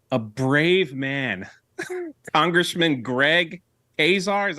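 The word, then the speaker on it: Casar: but in 2023 a brave man congressman Greg haar is how you say his name from Austin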